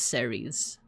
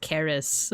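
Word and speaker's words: Ceres: And the first one we're going to go over her name is Deer Deer, but her Roman name is Series. Actually, it's pronounced Caris, but but uh in like at least in American English.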